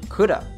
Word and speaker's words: could have: at the end of could have here, might have been, you know. You just could have been. You'll often hear from natives it being pronounced like coulda.